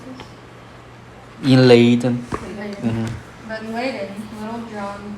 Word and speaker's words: Leiden: But in, how do you pronounce this? In Leiden. Leiden.